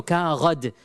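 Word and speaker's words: كاغد: And Arabs still, they know, classical Arabs, they know kaghad is how they would pronounce a paper.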